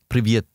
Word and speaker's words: Привет: Привет. Is that really just... Yeah, okay. It means hello. I was about to actually just say... You said привет. Yeah, as a joke. So, привет, greeted the man.